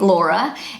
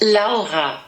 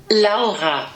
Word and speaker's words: Laura: And in Germany the name Laura is pronounced Laura. So one more time. Laura. Native English speakers have the hardest time pronouncing this name correctly in German because it has that little guttural sound in the middle, Laura.